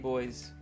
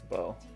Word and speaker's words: Beau: did you get a bow card a bow oh yeah why how did you pronounce it i'm sorry it's beau 57 said it i didn't even catch you b was pronounced bo oh i'm sorry you